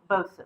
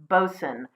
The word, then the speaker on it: boatswain: kind of thing and it's a single syllable so that's bosun okay and how do